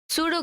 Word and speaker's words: pseudo: सूडो code है इस यह जो पी है वह साइलेंट है और एस से हम लोग इसको पढ़ते हैं सूडो कोड तो सूडो कोड